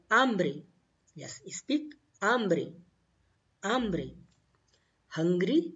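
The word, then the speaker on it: hambre: spanish you will say ambre because h is silent so hungry is called ambry yes speak ambry ambre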